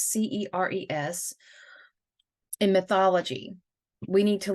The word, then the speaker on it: Ceres: So I have heard her name pronounced so many different ways, and right now I heard the correct pronunciation and I can't even get it off my tongue. What is Ceres, which is Ceres.